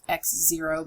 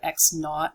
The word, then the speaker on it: X naught: you have X naught this is pronounced not x0 but X naught like nothing and x f and